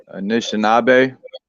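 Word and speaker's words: Anishinaabe: video there you go oh you were saying it right initial nabe and then it's Ojibwe anishinabe yeah even when I'm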